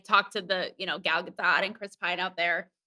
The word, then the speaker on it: Gal Gadot: fandango yeah i talked to the you know gal gadot and chris pine out there um and that